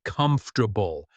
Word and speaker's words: comfortable: It is a shortened version of the word comfortable. Notice the pronunciation of this full word.